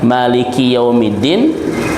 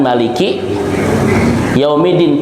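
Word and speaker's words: مالك يوم الدين: Bisa kita baca dengan Maliki Yaumiddin panjang atau bisa dibaca dengan Maliki Yaumiddin pendek, Pak.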